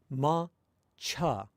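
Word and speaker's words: 抹茶: English, ma-cha, the second rather than saying that as cha, like you would say it in Japanese, you say cha, cha. The vowel is reduced if you say it with bad pronunciation.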